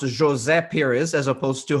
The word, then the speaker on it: José Pires: name is pronounced as jose perez as opposed to jose perez because it's portuguese versus spanish but listen i am